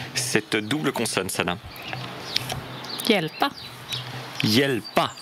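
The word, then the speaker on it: hjälpa: Yelpa. Yelpa. Encore une fois, HJ devient Y.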